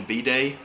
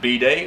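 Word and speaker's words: bidet: every day yeah and it's pronounced b day or b day like birthday like yeah i guess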